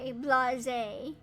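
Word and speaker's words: blasé: Yeah, I know it's pronounced blase, blase. I remember it ended with like a zay.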